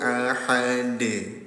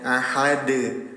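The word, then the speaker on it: أحد: Fayaumaidin laa yuadzibu adzabahu ahad. Dalnya disukunkan. Ketika dalnya disukunkan terjadi hukum tajwid yang namanya qol qalqalah. Pantulkan cara bacanya ahad.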